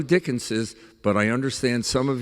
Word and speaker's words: Dickens's: and uh s two is it Dickens novels s uh or dickens's novels I do dickens's but I understand some